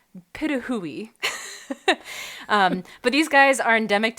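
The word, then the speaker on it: pitohui: So there's one kind of bird called the hooded pituhui, which it's spelled as patui, and it's not pronounced that way. And it positively breaks my heart, but it's the pituhui.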